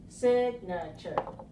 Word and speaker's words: signature: these three syllables then which one is the stressed syllable one two or three sign signature signature signature first one the first one right okay so we can